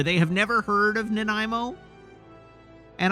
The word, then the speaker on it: Nanaimo: have never heard of Nanaimo, and I have heard all manner of mispronunciations of Nanaimo, but the one that stands out most in my mind is Nanamo. We have a story from Nanamo, BC.